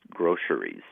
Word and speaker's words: groceries: or three syllables and you can pronounce it with an s in the middle or a sh and like an sh